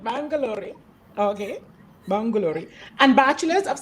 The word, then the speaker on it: Bangalore: psychology from christ college bang correct did i pronounce it right bangalore okay bangalore and bachelors of psychology honors from